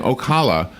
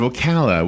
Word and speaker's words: Ocala: of things that are Ocala is often mispronounced ah I'll never forget we had a new guy in radio who work at the radio station and he kept saying okolloh instead of Ocala which is almost closed